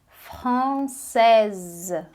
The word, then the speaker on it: française: Quando a gente adiciona o S, a gente ganha uma sílaba ali, então fica française, française.